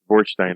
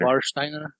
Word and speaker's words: Warsteiner: Are the W's pronounced with a V? Warsteiner. Warsteiner. Anyways, Warsteiner.